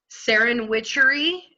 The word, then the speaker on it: SerenWitchery: course sorry pardon me Saren witchery and it's spelled like serendipity but witchery at the end so so so ser